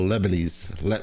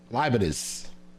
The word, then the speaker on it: Leibniz: And says, what contingency argument would you prefer, Kalam or Lebanese? What's that? How you pronounce that? How you pronounce that last name? Huh? Leibniz.